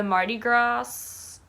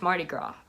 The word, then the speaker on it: Mardi Gras: the 7th is the Mardi Gras. Why do I always say that? I always pronounce Mardi Gras with the S. And I know that's not how you say it. I know it's Mardi Gras, but whatever.